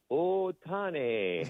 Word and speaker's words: Ohtani: that, but I also I also listened to Stephen pronounce Otani. Okay. And he's like, "Oh, Tani." And I'm like, you know, I'm like, "You're not Vince Scully, but you are pronouncing it probably correctly because you have a little bit of that heritage."